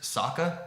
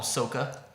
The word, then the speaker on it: Sokka: The other main characters, Sokka. They call him Soka. Yeah. And there's more too. I can't think of any because I've blocked it out of my And memory. speaking of Sokka, in the show, he's the comedy relief character.